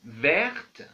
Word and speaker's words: verte: L'adjectif vert, au féminin on ajoute e, alors c'est verte, vert. Verte, on a changé l'écriture et la prononciation aussi.